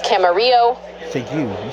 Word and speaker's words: Camarillo: It's Camarillo. Thank you. You said you could pronounce it okay.